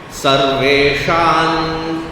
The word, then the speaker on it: सर्वेषां: So here, Sarvesham, the Anuswara, is followed by Cha. So therefore, it should sound as though it is coming from the nasal sound of the Cha varga. Sarveshan, Sarveshan Cha Mahikshitam.